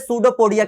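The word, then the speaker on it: pseudopodia: लोग क्या बोलते हैं सूडो पोडिया क्या बोलते हैं सूडो पोडिया जिसमें ये हमारा जो पी है साइलेंट होता है चैप्टर फर्स्ट में बताया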